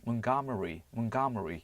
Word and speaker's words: Montgomery: 우리나라에서는 몽고메리라고 발음하지만 미국 쪽에서는 몬가머리 이런 식으로 발음하죠.